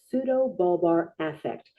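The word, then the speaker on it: pseudobulbar affect: PBA is pronounced pseudo balbar affect.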